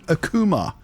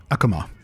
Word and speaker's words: Akuma: It's Street Fighter 6, and specifically Akuma. Or perhaps, I've heard some people pronounce it Akuma, which just hits my ears really weird. It's Akuma, right? Not Akuma.